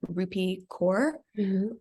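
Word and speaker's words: Rupi Kaur: are some of those short poems by um rupee core that's how we pronounce it and um i know she has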